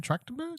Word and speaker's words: Trachtenberg: Trachtenberg?